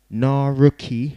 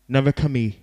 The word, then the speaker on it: Narukami: Big up the Naruki Records, yeah? Have I said it right? Narukami Records, yeah?